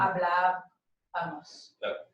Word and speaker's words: hablábamos: But you want to move it to this syllable. So it's Mm-hmm. hablábamos.